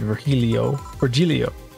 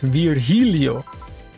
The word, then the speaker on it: Virgilio: You look winded, Virgilio. It's pronounced Virgilio. No, I'm pretty sure it's Virgilio.